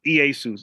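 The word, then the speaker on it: Ἰησοῦς: You spelled the name wrong, and unbiased pronunciation is Iesus. It's not what the fuck he said, which is totally wrong.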